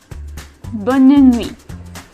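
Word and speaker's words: bonne nuit: say well so anymore you say bun in me and you also get your little nasal sound right but me I'm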